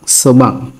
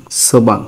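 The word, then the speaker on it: 소방: বিউপের উচ্চারণ হবে এখানে বাং, সোবাং, সোবাং। বিউপের উচ্চারণ ব এবং ভর মাঝামাঝি হবে, কারণ বিউপ নিচে বাতসিম পেয়ে গেছে, এই কারণে ব এবং ভর মাঝামাঝি উচ্চারণ হবে সোবাং, সোবাং।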